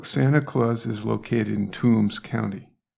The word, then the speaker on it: Toombs: So Santa Claus is located in Toombs County. That's Toombs, not Tombs, although Okay. it's pronounced the same.